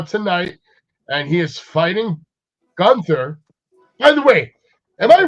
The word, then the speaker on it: Gunther: I think every when he was saying when everybody was saying gther, everybody was like, he was probably like, "No, it's not gther, it's Gunther because I mean, I think the proper German pronunciation is definitely 100% ga or ga."